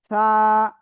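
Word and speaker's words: ث: জিহ্বার আগা উপরে দুই দাঁতের আগায় লাগান, লাগিয়ে নরম করে হালকা বাতাস বের করে উচ্চারণ করেন এক আলিফ টান দিয়ে। সা সা সা।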